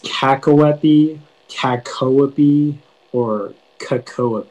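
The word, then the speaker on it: cacoepy: of the information yeah so it can be pronounced kakawapi kakoapi or kakoa b uh it's a noun and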